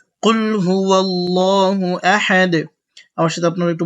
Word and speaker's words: আল্লাহ: লাল এই এটা হচ্ছে এই লামটা পুরো হবে আল্লাহ হবে আল্লাহ বলবো না এটা পুর হবে আল্লাহ শব্দ পুর এবং বারিকের যে নিয়ম ইনশাল্লাহ এটার